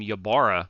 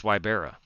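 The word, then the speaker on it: Wybierala: wybera Libera Brandon wybera I have been mispronouncing Brandon's last name for a long time I'd called him yabara forever it's wybera but he is in that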